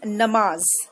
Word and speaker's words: namaz: Pronunciation is namaz. It is called namaz.